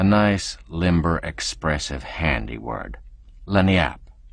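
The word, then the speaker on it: lagniappe: limber expressive handy word lanap as they pronounce it it's Spanish so they said we discovered it at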